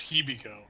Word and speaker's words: Hibiko: time in forever you got her name wrong it's hibiko yeah kimchi yeah you